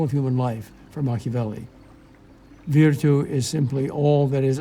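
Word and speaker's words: virtù: for power or Force virtue sounds like the word Virtue and Machiavelli plays on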